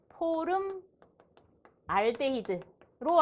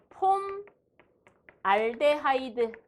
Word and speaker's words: 폼알데하이드: 포름 알데히드로 알고 있는 사람은 옛날 사람. 폼 알데하이드라고 알고 있는 사람은 MZ시대 사람.